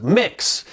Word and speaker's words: Mx: to use the gender-neutral title of MX pronounced mix some of these people